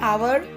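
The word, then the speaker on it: hour: Word के पहले एच होगा लेकिन उसका जो प्रोनाउंसिएशन है वो वॉवेल का होगा। अब यहाँ पे देखिए जैसे लिखा हुआ है एन आवर, an honest officer.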